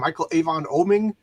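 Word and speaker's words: Michael Avon Oeming: Michael Avon Oming.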